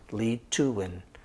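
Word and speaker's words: Leethoeun: introductions my name is lee too and by the way l-e-e-t-h-o-e-u-n saying you know lee and then to win like t-u and then w-i-n that's how you say it lead to win um i will i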